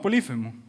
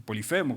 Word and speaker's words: Polifemo: ¿Saben a lo que me estoy refiriendo con Odiseo y este cíclope llamado Polífemo? O Polifemo, como lo pronuncian algunos.